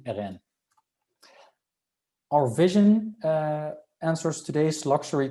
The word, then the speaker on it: Eureeca: The first two brands in our portfolio are Lebois Co and Eureeca, or the official French pronunciation Eureeca, but I'll stick to Eureeca.